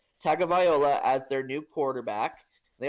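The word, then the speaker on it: Tagovailoa: a tag a viola I've been saying his name last name wrong all this time I finally have heard it correctly so tua tagging viola as their new quarterback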